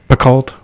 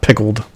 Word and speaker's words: Picoult: Picoult. All right. Not pickled. Not like she's a cucumber. No.